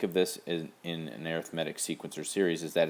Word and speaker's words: arithmetic: of series it's pronounced arithmetic when it's a noun it's arithmetic when you're adding subtracting that's arithmetic right when it's an adjective describing a type of sequence or series it's pronounced arithmetic here are a couple